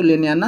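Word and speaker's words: Ntlenyana: सबसे ऊंची चोटी को लेनियाना बोलते हैं। और अगर इंग्लिश में बात की जाए तो उसको NT यहाँ पे साइलेंट है आपका, तो लेनियाना हो जाएगा।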